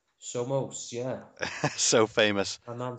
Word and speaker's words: Somos: And today we are doing the incredibly famous Kayn Samos. Somos, yeah. So famous. My man Somos. Who knows how to pronounce his name?